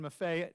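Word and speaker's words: Maffei: used to say uh it rhymes with Buffet yes and I understand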